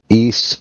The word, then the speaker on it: Ys: Um, it is called East Origins. has a weird name. It's a Japanese RPG series. Long running. I got to check this out. It's spelled YS.